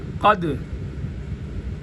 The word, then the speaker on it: قد: ساتھ پڑھا جائے، اور یہاں پر جیسے تلفظ ہے قد، اس کو تا کے ساتھ قاف کو ملا کر پھر پڑھا جائے۔ قد تبین، قد دال کو بالکل نہیں پڑھا جائے گا، اسکپ کر دیں گے کیونکہ تا ماقبل حرکت